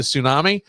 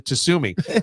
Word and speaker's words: tsunami: JJ about the about the Tsunami or as he calls it the tsumi I go how can